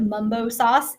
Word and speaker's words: mambo sauce: Mambo sauce was invented in DC. Mambo, some people pronounce it mumbo sauce, is a sweet and